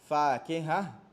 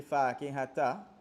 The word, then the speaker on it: فاكهة: Fakiha. Right? If you pronounce the ta, you're going to say fakihata.